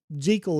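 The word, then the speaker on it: Jekyll: Hyde was just more of the it, but it was just over time you had the greater separation where jal is actually the proper pronunciation.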